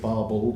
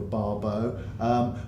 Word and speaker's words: Barbauld: Smith and the leadership Barbauld I pronounced it some people go for Barbeau but they have to